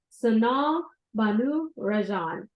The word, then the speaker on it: Sanal Bhanu Rajan: Minds worldwide so without further Ado let's welcome son Banu Rajan and hopefully I pronounced your name accurately if not please correct